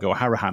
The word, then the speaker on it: Hourihan: So I bet over the years, we talked to Conor Hourihan Harahan, I should say, to get it right, right at the beginning of this podcast journey, this season.